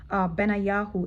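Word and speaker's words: בניהו: It's pronounced Benayahu in Hebrew.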